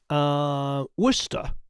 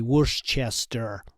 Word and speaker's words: Worcester: the Buckeye State Tennessee Worcester or as Americans say worst Chester yeah Worcester York Chile